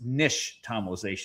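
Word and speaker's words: nixtamalization: It's an Aztec word and the X is actually sh. So it's nish tomalization.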